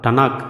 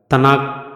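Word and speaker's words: תנ״ך: மட்டும்தான் கையில வச்சிருப்பாங்க அதைத்தான் டனாக் அப்படின்னு சொல்றாங்க தனாக் தனாக் அப்படின்னு நம்ம எப்படி வேணாலும் உச்சரிக்கலாம் தனாக்ல மொத்தம் 24 புத்தகங்கள்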